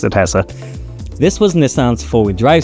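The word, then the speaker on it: ATTESA: Nissan's Innovative atessa system or at Esa I assume it's pronounced atessa this was Nissan's four-wheel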